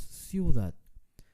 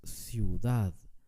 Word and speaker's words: ciudad: No decimos ciudad, decimos ciudad. Así que la palabra ciudad es una palabra aguda.